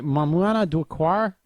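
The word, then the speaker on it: Maïmouna Doucouré: a French film written by and directed by Mamouna Doucoure.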